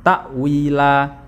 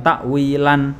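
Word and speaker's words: تأويلا: ya perhatian dibaca waqaf cara bacanya adalah dibaca panjang dua harakat atau satu Alif ya Jadi tidak dibaca fathah Tain tapi dibaca panjang takwila jadi bukan takwilan bukan takwila Hai baik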